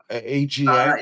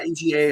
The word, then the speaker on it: AGA: AGA. AGA, AGA, they go by both.